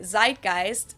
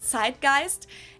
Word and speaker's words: Zeitgeist: some other languages too Americans usually say Zeitgeist in German we pronounce it Zeitgeist and this consists of